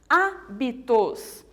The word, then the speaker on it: hábitos: então vamos tentar entender hábito e físicas são palavras que eu pronuncio mais forte a antepenúltima olha só físicas hábitos então são palavras que